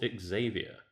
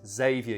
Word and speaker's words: Xavier: actually supposed to pronounce xavier you don't pronounce the x okay okay yeah and